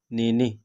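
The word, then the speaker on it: nenek: है ठीक है दातो दादी नेने यहां पर भी के साइलेंट ही होगा ठीक है नेने पोता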